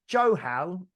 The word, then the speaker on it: Johal: Is it Johal? Yes. Yeah, Johal. Just wanted to check the pronunciation.